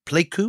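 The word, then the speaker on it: Pleiku: Viet Kong attack on the US base at pleu is that the right pronunciation that's right in 1965 in February tell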